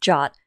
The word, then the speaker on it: JWT: JSON web token or JWT pronounced Jot is an open standard for a stateless lightweight JSON artifact.